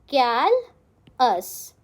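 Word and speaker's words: callous: Next word is कैलस. हाउ डू you pronounce it? कैल अस. बहुत simple है कैलस.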